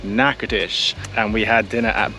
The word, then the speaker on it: Natchitoches: It is pronounced Natchitoches.